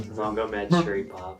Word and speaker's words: Magomedsharipov: Then you have Zabit, I can't pronounce his last name. Magomedsharipov.